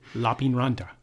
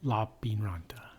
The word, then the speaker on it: Lappeenranta: Lappeenranta. That's not how you say it. Lappeenranta. Lappeenranta. Lappeenranta. In Finnish, the emphasis is on the first syllable.